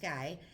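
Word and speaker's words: Gey: So he called George Guy, pronounced Guy, head of tissue culture research at Hopkins.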